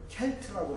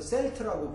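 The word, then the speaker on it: Celt: 아일랜드 사람들을 이제 종족, 그 인종을 켈트라고 부르는데 이게 켈트족인데 미국에서만 켈트를 스 발음을 해서 셀트라고 부르고 보스턴 농구팀을 보스턴 셀틱스다, 보스턴 셀트족이다 이렇게 이제 부르고 있습니다.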